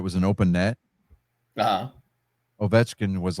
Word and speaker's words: Ovechkin: In hockey news, the great one was tied and surpassed by Alex Ovechkin Ovechkin. Ovechkin.